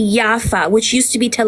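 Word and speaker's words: Jaffa: partition plan talking about Rafa yafa no no you're you're you're just using over pronunciation you're about ra no y not RAF I'm talking about yafa which used to be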